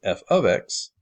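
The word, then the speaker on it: f(x): That's pronounced f of x, and it means the same thing as y, but it allows you to use what's called function notation to make these estimations.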